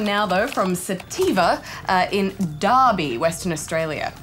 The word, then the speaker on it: Derby: It's spelt Derby, but apparently you pronounce it Derby. I say Derby. Yeah, well, that's wrong, though, because apparently you say Derby, Derby, Derby, even though it's an E.